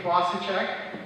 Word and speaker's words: Fossaceca: good morning good afternoon my name is klosacek um Democratic candidate for the sixth house district